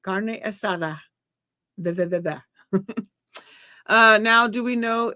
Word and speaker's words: carne asada: assada all the time if you're gonna say it say it right carne asada uh now do we